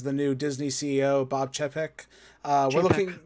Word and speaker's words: Chapek: This is the new Disney CEO, Bob Chapek. We're looking... Chapek? Chapek?